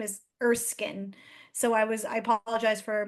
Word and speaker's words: Erskine: Her last name is Erskine, so I apologize for mispronouncing her name.